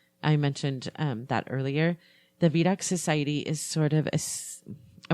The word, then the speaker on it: Vidocq: The Vidocq Society is sort of I want to say secret society, and I don't think it's definitely exclusive.